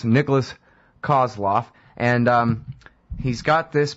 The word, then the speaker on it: Nikolas: Believe it or not, it's spelled exactly like it sounds. N-I-K, no C in Nikolas. Nikolas Kozloff.